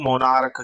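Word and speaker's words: monarch: उसी तरह यदि मैं बात करूं मोनार्क की, है ना, मोनार्क लिखा हो और भाई मोनार्क है ना, तो लास्ट में सी एच है और इस सी एच का भी उच्चारण क्या आ रहा है, क आ रहा है।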